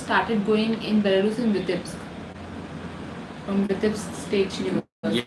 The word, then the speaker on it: Vitebsk: It's called Vitebsk. For people who don't know the pronunciation, Vitebsk. Many videos are coming up, but they don't even know how to pronounce that.